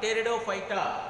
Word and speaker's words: Pteridophyta: Pteridophyta, the sound should come. Pteridophyta, okay. P is silent in this.